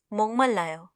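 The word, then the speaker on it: 목말라요: हमारा पहला सेंटेंस है मोंगमल लायो, मुझे प्यास लगी है. उच्चारण पर हम ध्यान देंगे. इसे हम मोक नहीं बल्कि मोंग पढ़ते हैं.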